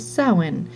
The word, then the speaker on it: Samhain: year the feast of soin smiling she said the strange word so it seemed to rhyme with plowing well it's true that